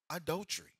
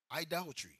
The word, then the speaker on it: idolatry: Your job and how much money you make can become adultery. Idolatry.